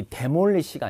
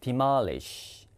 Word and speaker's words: demolish: 이 발음을 또 많이 틀리는 단어 중에 하나인데 이 demolish가 아니라 demolish 이게 헐다 부시다입니다.